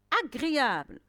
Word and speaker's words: agréable: Agréable, est-ce que j'entends je? Non, j'entends le son g. La lettre G est suivie de la consonne R. Il se prononce g. Il ne se prononce pas je.